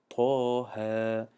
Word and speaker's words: طه: ببینید در همینجا حرف تا میگیم، نمیگیم اتقه، نمیگیم کو طه میگیم، طه.